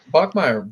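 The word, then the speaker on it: Bachmeier: The first name Bear and his last name Bachmire, I believe. Bachmeire.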